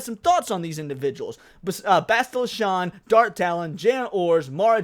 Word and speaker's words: Bastila Shan: at the history of Star Wars, we got Bastila Shan, or Bastila Shan, who apparently I've been saying her name wrong my whole life, and Badger had to correct me the other day. Bastila Shan.